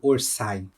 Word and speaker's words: Orsay: eu usava ou seja orçay fungos 100% confirmado eu pronuncia o nome dele correto orçay Esse é a forma correta de falar então ou não na